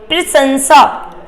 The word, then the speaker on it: प्रशंसा: यहां पर क्या होगा हम जब उच्चारण करेंगे तो उच्चारण में क्या करेंगे यहां पे तालू वाला साल लेंगे और दंत वाला सा लेंगे क्या करेंगे प्रशंसा ये लास्ट वाला जो सा आएगा वो आपका दंत वाला सा आएगा मतलब इसका सा का